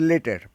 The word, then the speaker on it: later: অনেকে উচ্চারণ করবে ল্যাটার, কিন্তু এর উচ্চারণ হচ্ছে লেটার।